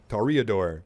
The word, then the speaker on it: Toreador: But during that whole experience, I learned that it's not Toreador, it's Toreador. So I'm going to say it like that. That's the way they say it in the thingy thing.